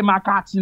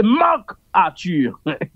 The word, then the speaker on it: Marc Arthur: sot même propre non li pas ka prononcer l'homme de l'homme de l'homme Makati l'homme Makati. Pourtant, malandré, c'est Marc Arthur.